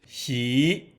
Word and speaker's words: 喜: the Chinese character she pronounced she has got a few